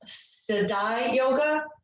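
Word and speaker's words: Siddhi Yoga: a youtube channel called i believe it's pronounced sadai yoga s-i-d-d-h-i-y-o-g-a and i can also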